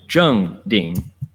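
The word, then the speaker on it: 正定: There was zheng ding for zheng ding. So right meditative focus. All right. Zheng ding. That four is a fourth tone. Zheng ding. Ah, it's the falling tone.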